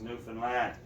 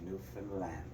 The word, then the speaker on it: Newfoundland: Now a scoff is a dance, and in Newfoundland a blue star is a beer, and it's pronounced Newfoundland, not Newfoundland or Newfoundland.